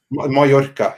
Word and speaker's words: Mallorca: Mallorca, yeah.